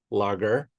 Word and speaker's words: Langer: And today we've got Nicolas Lager. I pronounce that correct, Nicolas?